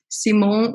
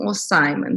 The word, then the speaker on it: Simon: eu não tinha te perguntei como que se pronuncia o seu nome depois você me corrige o Simon Simon tá bom ela tem aí 10 anos de